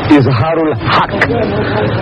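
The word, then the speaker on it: Izhar ul Haq: out in Latin script i z h a r u l h a k k isar hak now to me that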